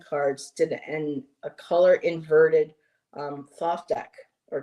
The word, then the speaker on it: Thoth: Found out a creator on Make Playing Cards did a color inverted Thoth deck or Toth deck, but Amy pronounced it Doth.